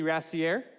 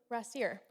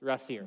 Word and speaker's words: Rossi: friend Sydney Rossi air Sydney is that how you pronounce your last name you were close but no okay how do you pronounce it rest here okay and what did I say last year oh acceptable it's like two syllables rest here right right okay all